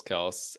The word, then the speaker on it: Kelce: Yes, my go-to pronunciation is Travis Kelce.